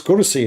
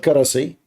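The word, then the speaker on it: كرسي: I mean, it's kursi, not karasi.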